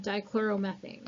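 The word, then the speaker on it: dichloromethane: for example you have D chloromethane this we used in the lab guys kept telling me that you couldn't figure out how to say it it's just D chloro methane so is D chloromethane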